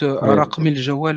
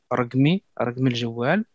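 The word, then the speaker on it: رقم الجوال: Ensuite, raqmi el jawal avec le qa qui se prononcera comme un gue, raqmi el jawal, raqmi el moudir, raqm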